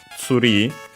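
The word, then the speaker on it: ツリー: But yeah, either way, tree from English is pronounced in Japanese as tsuri. Its accent is on the ri as expected, and so yeah, just like in English.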